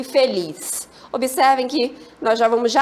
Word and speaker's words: feliz: E a palavra feliz, feliz, a sílaba forte é lis.